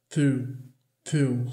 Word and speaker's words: through: Porque olha que confusão essa palavra aqui, o tanto de letra que a gente nem pronuncia. Mas quando a gente vê no alfabeto fonético, a gente vê que essa palavra tem só 3 sons. O som do TH não vozeado, R, U, through, só 3 sons.